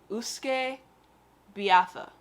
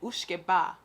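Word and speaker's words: uisce beatha: irish word for whiskey see if i saw this i would say usuke biatha but they say ushke ba so again the th is silent i guess this is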